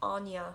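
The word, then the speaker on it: Áine: is anya or anya it's more commonly pronounced anya and i know it just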